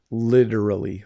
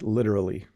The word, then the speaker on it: literally: how to pronounce literally I can pronounce it the British way but I can't pronounce it the American Canadian way it twists my tongue so I said it very quickly literally literally so again the T sounds like a d literally literally that's a